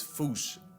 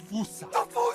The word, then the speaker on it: fossa: Really, the correct way Exactly. to say it is foosh, foosh, foosh, like foosh with a performance anxiety at the end. Experts feel free to correct me, but apparently that is the closest to the OG Malagasy pronunciation. It's just that the global game of telephone has Americans saying Fusa, while England pronounces it as Fossa.